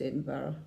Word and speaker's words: Edinburgh: mocker Edinburough ly and for you Americans it's pronounced Edinburgh I think I said